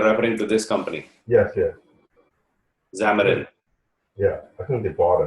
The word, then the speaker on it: Xamarin: Xamarin.